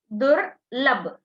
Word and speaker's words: दुर्लभ: बच्चों इसका ऊपर में कुछ चिन्ह है ना, वो इर है. So first pronounce the ir. दुर्लभ.